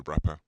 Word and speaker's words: wrapper: Now this is called the wrapper. It's not like I got bars kind of wrapper. It's a wrapper with a W. Yeah, the silent W as they call it.